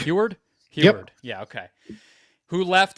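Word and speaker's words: Huard: How do we pronounce this gentleman's last name? Huward. Huward.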